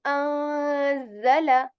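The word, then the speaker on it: أَنزَلَ: So you will be wondering what I am doing at like why I'm not saying like anzala, rather I'm saying anzala.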